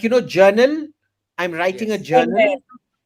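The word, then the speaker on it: Jarnail: Journal. Journal. Yes. Journal. J R N A I L. Like you know journal.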